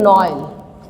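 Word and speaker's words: Noël: When you will put trema, Noel means Christmas, the pronunciation will become different, Noel.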